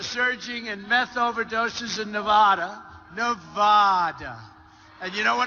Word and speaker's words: Nevada: out here I said nobody says it the other way it has to be Nevada right and if you don't